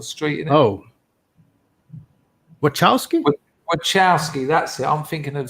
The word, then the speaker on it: Wachowski: Wachowski, that's it.